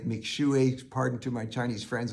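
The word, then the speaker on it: Mixue: And what they offer, as their name says, and it's M-I-X-U-E, but it's pronounced something like McShui.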